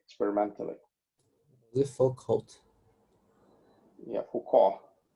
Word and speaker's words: Foucault: Yeah, Foucault. So it's a French name, so half of the letters are not pronounced.